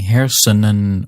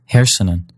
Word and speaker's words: hersenen: When that happens, the N in that last syllable, that N is silent. That gives you words like hersenen and springen, and even compound words where you get the unstressed N syllable in the middle, like fietsenrek. In these cases, you're not hearing hersenen or springen or fietsenrek, but rather hersenen, springen, and fietsenrek.